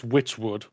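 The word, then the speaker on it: Wytchwood: Okay, so I'm guessing even though this is spelled with a Y, it's Witchwood.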